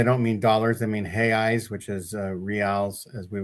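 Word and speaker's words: reais: Hey Eeyes. What are Eeyes? So that's how they pronounce re A. We would say real, which is like the the king's money and they pronounce it he eyes because like Joseph Smith's name is Joseph Schmich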